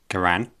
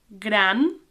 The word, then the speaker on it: gran: gran gran It's a bit like your nan, gran, but it's pronounced more like gran.